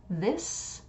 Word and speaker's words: this: So this is an I sound and a S, this.